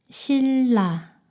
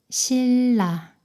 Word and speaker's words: 신라: 니은이 리을 발음으로 변해요. 분리, 분리. 이것도 읽어볼까요? 신라, 신라.